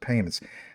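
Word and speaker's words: PYMNTS: This is from actually P Y NTS, but it's pronounced payments.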